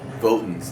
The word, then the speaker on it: Votans: Votans, that's how you say it.